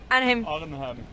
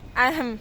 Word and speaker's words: Arnhem: Pues mañana iremos a Arnhem, pero que no se dice así porque se ríen de mí cada vez que lo pronuncio. The name of the place we go tomorrow. Arnhem. Arnhem. Arnhem.